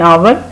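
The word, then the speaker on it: hour: लेकिन अगर H silent है, ओ की आवाज़ आ रही है, तो हम एन आएंगे, एन आवर।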